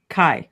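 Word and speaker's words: חי: Is that you pronounce it Chai? Kai.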